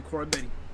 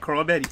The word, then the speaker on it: Koroibete: 2015, speed and power, Marika Koroibete.